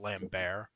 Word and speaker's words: Christopher Lambert: By the way, it's pronounced Lambbear.